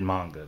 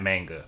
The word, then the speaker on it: manga: they were in video games yes i said manga because that's how it's supposed to be pronounced not manga manga is a company that is spelled the